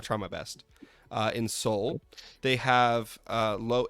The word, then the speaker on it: Seoul: my best uh in Seoul they have uh low it's not it's not pronounced seal okay let's just clear that out that's one thing I